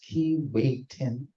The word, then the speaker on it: Keewatin: liner built in scotten in 1907 so the key waen is the oldest and by far the biggest and most glamorous here is some of her story her name pronounced key weon in cre or a jibway that means North